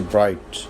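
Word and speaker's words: bright: Word I जी एच अगर किसी word के शुरू में आई जी एच आ जाए तो उसमें जीए जो है साइलेंट होगा जैसे ब्राइट फाइट हाइट एंड स्ट्रेट इसमें हमने देखा कि जीए जो है वो साइलेंट है।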